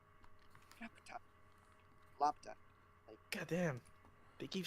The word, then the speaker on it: Laputa: I usually just say Laputa's got like Lopta, like keep the U silent, and like how they say it in Japanese. What do they say in Although Japanese? I'm almost afraid to ask what they say in Japanese. no, they say it as Rapta.